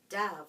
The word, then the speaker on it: dove: beautiful bird called death dove rhymes with love nobody wrote down wrote